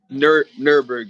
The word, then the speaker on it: Neuberg: Nurburg. Yeah. Yes, sir. Yep. Neuberg is some. Yeah, that's how you pronounce it.